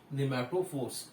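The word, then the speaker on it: pneumatophore: Okay, for respiration, and the type is respiratory roots or the nematophores. याला nematophore सुद्धा म्हणतात. It starts with the P. P is silent.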